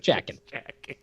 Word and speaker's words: Jaeckin: first name is Just, last name is spelled Jaeckin, just Jackin.